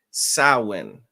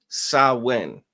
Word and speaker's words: Samhain: celebrate is called, it's spelled Samhain, but it's pronounced Samhain. All right. Samhain.